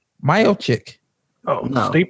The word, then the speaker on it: Miocic: And you mispronounced his last name. Miocic. Oh, No. Stipe? Miocic.